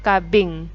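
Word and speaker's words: かびん: bunga itu bahasa Jepangnya kabing tulisannya cabin Tapi bacanya kabing Ya jadi kalau menyebutkan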